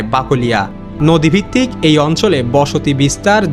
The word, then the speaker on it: বাকলিয়া: বাকলাই শব্দের শেষের ই ধ্বনি ধীরে ধীরে ইয়া উচ্চারণের রূপ নেয়। যা বাংলা ভাষায় খুবই স্বাভাবিক একটি বিবর্তন। যেমন অনেক প্রাচীন নাম সময়ের সাথে নতুন উচ্চারণে স্থায়ী রূপ পায় ঠিক তেমনভাবেই বাকলাই থেকে হয়ে যায় বাকলিয়া।